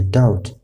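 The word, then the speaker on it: doubt: ډاوټ، ډاوټ نه ویل کېږي، ډاوټ. او همدارنګه سټل.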